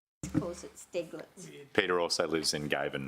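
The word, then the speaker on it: Steiglitz: Was it Steglitz or Stiglitz? It's Stiglitz. Calls it Steglitz.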